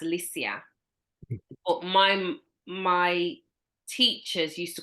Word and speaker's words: Liesje: they said to me, your name is not Liesje, it's Liesje. It's pronounced Liesje.